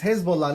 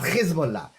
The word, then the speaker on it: Hezbollah: The pronunciation is Hezbollah, not Hezbollah.